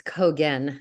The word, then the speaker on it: Cogan: It's Cogan, not Cogen.